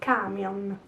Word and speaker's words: camion: just say ilbus ilbus so the accent is on the first a in camion this is very common